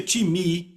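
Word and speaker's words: τιμή: time que se soletra time pnr eu digo time porque a nossa pronúncia mas se pronuncia time e quer dizer uma valorização repitam valorização significa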